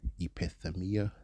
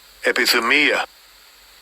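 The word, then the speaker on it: ἐπιθυμία: And I believe that's pronounced in the Greek epithemia, if I'm correct. Strong's G, 1939. Epithumia.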